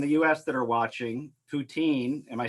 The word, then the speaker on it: poutine: that are watching, poutine, am I saying that right? Poutine? Poutine is like the French Poutine pronunciation, but I think that's just is as good.